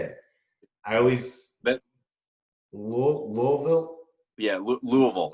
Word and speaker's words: Louisville: Yeah, Louisville.